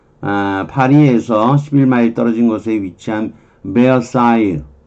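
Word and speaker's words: Versailles: 페리스 파리에서 11마일 떨어진 곳에 위치한 베어사유 여기 이쪽 발음이 불어로 그렇게 발음이 돼요. S는 발음 안 될 때고요. 베사유 이렇게 여기에 에유 이렇게 발음이 돼요. 베르사유 사이유 뭐 그래도 되는데 베르사유 궁전은 17세기에 루이 14세에 의해서 건축되었다는 거죠.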